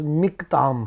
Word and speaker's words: مکتام: وہ لفظ ہے مکتام۔ بعض لوگ اس کو مکتام یا مکتام پڑھتے ہیں، لیکن یہ ہیبرو لینگویج کے مطابق میم کے نیچے خرق لگا ہے، اس لیے اس کا تلفظ مکتام ہے۔ تو مکتام جو ہے